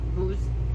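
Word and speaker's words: בוז: The actual Hebrew word there, used there, is booze, B-U with a little roof over it, W-Z, and it's pronounced B-O-O-Z. Yeah, booze.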